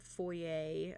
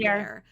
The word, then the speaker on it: foyer: the main kind of foyer of a sort with like the fireplace there. Yeah. Also figured out it's actually pronounced foyer. It's supposed to be Foyer. foyer. It's not foyer. That's a myth, apparently.